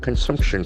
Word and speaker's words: consumption: In plus noun form, consumption, C-O-N-S-U-M-P-T-I-O-N. And they must be nouns. So it's a very important observation. Consumption. The accent falls on the second syllable.